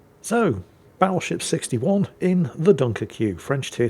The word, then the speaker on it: Dunkerque: The Dunkerque is... what? What do you mean I'm mispronouncing it? No, I'm not. Look, if they wanted me to pronounce it Dunkirk, they shouldn't have spelled it Dunkerque, should they?